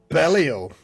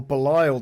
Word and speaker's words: Belial: Speaking of things that don't quite work as intended, Belial, or Belial, depending on how you pronounce his name.